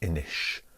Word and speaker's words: Inis: board games for K so Ennis or Enosh if you want to be a pronunciation geek how to play this